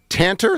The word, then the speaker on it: Tanter: Hey, um, Lawrence, uh, Tanter, is that how you pronounce his name, Fish? Yes, sir. Yes, sir.